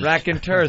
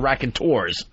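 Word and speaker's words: Raconteurs: we started I'm like are you sure it's rack and tur yes I'm positive even though my instinct was that they have to be called the rack and tours I didn't hear the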